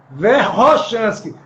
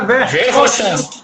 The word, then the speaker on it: Verkhoshansky: Isso é uma regra, mas o nome correto, a pronúncia correta é Verkhoshansky, certo? Como se fosse com 2 R's.